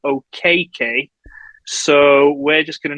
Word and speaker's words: Okeke: So while he's originally gone by Okeke in the past, he's discovered that the actual pronunciation should be Okeke.